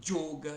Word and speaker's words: yoga: Guana entet fala quetra mesmo palavra yoga ele fala joga então existe o sânscrito